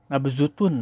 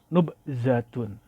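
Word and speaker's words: نبذة: Nah, saya cek di dalam kamus, yang benar adalah nubzatun. Apakah ini kesalahan daripada penerbit ya, walau Allah. Tapi kalau lihat di kamus itu bacanya nubzatun, sama seperti yang pada nomor 1 ini, nubzah. Bukan nabzutun. Ini kemungkinan salah ketik ya.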